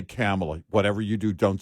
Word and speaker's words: Kamala: His prompter said, and they wrote it out phonetically, her name, comma, COMMA dash LA, Harris. That's how they wrote it.